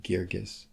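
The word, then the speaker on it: Guirgis: winning playwright by the name of Stephen Adly Girgis. I always pronounce it wrong. It's Stephen Adly Girgis.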